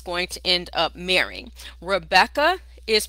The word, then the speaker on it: Rebekah: Rebekah is pronounced Rivka, and it means ensnarer.